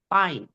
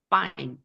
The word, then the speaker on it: fine: 그래서 그 that's fine 할 때 발음 F는 그냥 쌍비읍 발음이라 생각하시면 돼요.